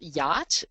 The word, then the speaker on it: yacht: that on site so for example yacht Who would know that that's how that's pronounced unless you'd already heard